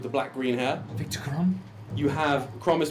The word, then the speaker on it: Chrom: Elven child with the black green hair Victor crom you have crom is spelled CHR oom you have c h you're